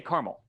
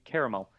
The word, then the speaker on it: caramel: I say caramel. Me too. Because Yeah, same. there are places. Yeah, so there are different regional dialects and everything, and that's just how we say caramel, but it should be caramel.